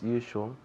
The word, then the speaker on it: usual: As usual. Good. Very good. As usual. As usual. Aquí la pronunciación usual. You, como cuando decimos tú, you empieza con ese sonido.